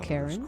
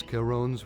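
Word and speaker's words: Charon: Oh, is that why it's called Karen? Cross. Are you planning to cross Kon's river? Oh, it's pronounced Kon.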